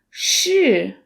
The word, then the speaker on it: 是: It's a retroflex sound. Here's a handy trick to how to say it. It's like saying the English word shirt, S-H-I-R-T, without the T.